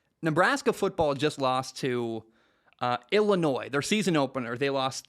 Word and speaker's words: Illinois: The way the state of Illinois spells things, the S is silent. I hate that so much. Anyway, why include the S, I guess, is my point. It's Illinois is how it's spelled, but it's Illinois is how you say it.